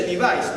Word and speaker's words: Levi: A los jeans, de acá se dice Levi's, ¿no? Pero no es Levi's, porque es del apellido Levi. Entonces, Levi es Levi, pero aquí se le pronuncia con pronunciación fonética inglesa.